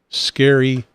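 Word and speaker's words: Scerry: is a little weird it is spelled SCE rry which I'm going to pronounce the way I think the guy wants it to be pronounced scary Perry Whitlock scary Perry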